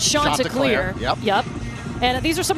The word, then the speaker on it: Chanticleer: the first question is how do you say it and it's shot to clear yep and these are